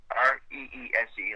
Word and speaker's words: Reese: Res like Reese's Peanut Butter Cup.